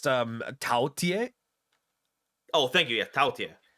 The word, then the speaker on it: Taotie: pronounced Taotie.